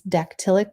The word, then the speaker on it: dactylic: i'll copy and paste an example there and then the last one is dactylic kind of sounds like pterodactyl it's just the opposite